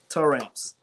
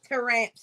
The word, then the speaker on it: Taramps: a dealer with Terry what does it say it again tow ramps to ramps y'all so that's how I say it but just because Damian is here I have to say it like that so I am a